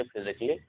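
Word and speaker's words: physically: Double L वाई से पहले ए होगा तो ए साइलेंट होगा। जैसे इसे हम पढ़ेंगे फिजिकली, यहाँ पे डबल एल वाई है, ठीक है।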